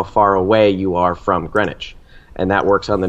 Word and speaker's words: Greenwich: it is in Greenwich I apologize for pronouncing the W in the video if you know what time it is in Greenwich and you use the